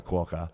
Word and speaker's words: Quokka: It rhymes with Docker. Yeah. So thank you, Dan. It does rhyme with Fokker. If you didn't know. I mean Docker. And that. Docker the Fokker Quokka.